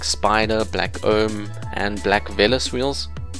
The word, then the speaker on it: Velos: Black Invader, Black Stern, Black Spider, Black Ohm, and Black Velos wheels. I found out they pronounced Velos instead of Veloce, which is kind of disappointing. I think Veloce sounds a lot cooler than Velos.